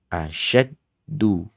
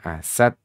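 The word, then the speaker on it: أشد: Asyaddu bukan asad.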